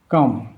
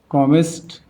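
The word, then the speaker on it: calm: ব্যতিক্রম আছে, যেমন আমার এল এম এর আগে একটা এ আছে ভাওয়েল, এই জন্য এই এলের উচ্চারণ হয় না। কাম, ফিল্ম, বাম, হাম, কমেস্ট, কোয়াম।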